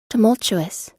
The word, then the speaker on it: tumultuous: I don't know how to pronounce it. Tumultuous.